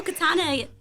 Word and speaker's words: Katiana: letting y'all know but it's k a t i a n a and my eye is silent but as you can